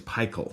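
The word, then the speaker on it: Pychyl: I think it's Peichel. Peichel, thank you.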